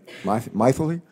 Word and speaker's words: Mythily: Our second witness has a name I've never heard before, and her first name is Mythily, right? Mythily? It sort of rhymes with mightily, right?